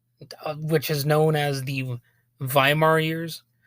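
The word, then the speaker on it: Weimar: music director in W viar Germany which is known as the viar years I believe it's pronounced V when you have a German W and anyway during this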